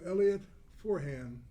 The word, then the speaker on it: Elliot Forhan: We're going to interview Elliot Forhan. Did I pronounce the name correct?